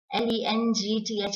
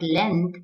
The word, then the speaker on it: length: In the same way, it's not L-E-N-G-T-H is not length, but length, length.